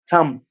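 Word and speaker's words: thumb: सो अगर आपको best sound करना है तो आपको समझना पड़ेगा कि ये जो टर्म मैंने लिखा है ये भी प्रोनाउंस नहीं होगा। You will say थंब थंब।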